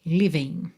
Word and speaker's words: living: Então, and the livenes, olha que interessante, lembra que aqui a gente teria uma letra G? Living, OK? Terminação ing. O G é mudo. Inclusive aqui você já tem uma indicação de que esse G é mudo, porque a gente tem um apóstrofo no lugar dele, o que facilita a nossa ligação pela letra N.